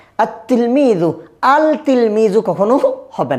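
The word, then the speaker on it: التِّلْمِيذُ: আলিফ লামটা আসবে কিন্তু কি হবে না? উচ্চারণ হবে না।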